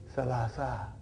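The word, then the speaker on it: ثلاثة: So that is why you have salasatun. But in pronunciation we will say salasa, salasa, arba'a.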